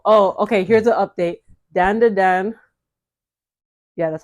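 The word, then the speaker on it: Dandadan: again and oh oh okay here's the update danda Dan yeah that's how you say it danand Dan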